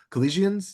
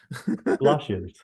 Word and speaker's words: Colossians: Next, I want to go to, I don't even know how to pronounce this word, I'll be honest. Colossians, does that sound right? Colossians.